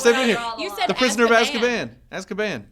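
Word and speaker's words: Azkaban: have to talk here the prisoner of asan as caban it's asan oh my God the prisoner of as caban stop it no asab as caban as caban you're putting you're putting too much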